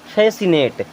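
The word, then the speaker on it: fascinate: रहना चाहिए ठीक है उसी प्रकार अब यहां सी को साइलेंट कर देंगे तो क्या हो जाएगा फेसिनेट एनटी को पढ़ेंगे नेट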